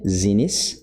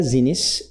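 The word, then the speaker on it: Xinis: Então eu estou assumindo aqui que essa leitura seja com som de Z. Zines. Zines. Mas como é um nome, né, um sobrenome aí pode ser que tenha outra pronúncia. Muito bem. Judge Paula Zinis of the US District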